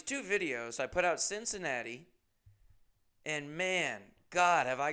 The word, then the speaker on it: Cincinnati: I'm calling Cincinnati Cindy's nasty through the whole video.